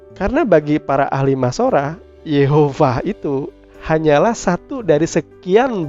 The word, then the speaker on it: Yehovah: Vav He itu akhirnya bisa dibaca menjadi Yahovah atau Yehovah. Jadi bukan Yahweh ya. Nah, sampai sejauh ini saudara tentu paham kalau pada akhirnya pelafalan yang tepat dari huruf mati YHVH itu ditambah dengan nikutnya itu bisa dibaca dengan sebutan Yehovah. Tapi tidak lantas bahwa saya